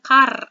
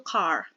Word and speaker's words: car: Bacanya bukan car, R-nya nggak terbaca ya, agak cadel di belakang, yaitu car.